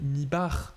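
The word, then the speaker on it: Mibach: C'est Nathalie Mibar, pas Mibar. Ouais, comment ça s'écrit, Nathalie C'est M-I-B-A-C-H.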